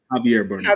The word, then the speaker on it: Javier Bernal: Javier Bernal. See, Javier, that's Javier Bernal. Javier. Yeah, yeah. See, that's J News Spanish thing.